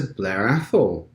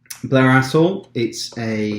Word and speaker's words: Blair Athol: Blair Athol, or Blair Athol, I think they pronounce the TH.